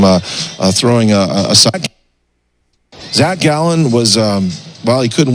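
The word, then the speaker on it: Gallen: caught it okay so I guess I was saying his name wrong so it's Zach gallon okay doesn't really matter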